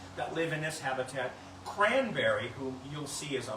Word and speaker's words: Cranbeary: And she was born on Thanksgiving, and that's why she earned the name Cranberry. Hold on, it gets better. It's spelled B-E-A-R-Y.